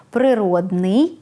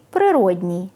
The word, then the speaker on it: природний: зворотний зв'язок то знайте слід писати й вимовляти закінчення ий слова зворотній в українській мові не існує як не існує і прикметника природній навіть якщо ви часто його чуєте саме природний - це прикметник до іменника природа а також справжній натуральний